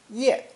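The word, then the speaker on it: 页: or most important two the head with legs variant of the head pictogram pronounced ye today most often means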